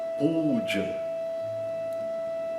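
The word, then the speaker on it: pūjā: Púdia. Púdia. O a é curto, o u é longo.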